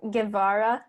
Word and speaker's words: Guevara: I pronounce it Guevara. Guevara? Oh, I'm sorry. It's okay. I mean, even Filipinos pronounce it multiple ways. So my family pronounces it Guevara.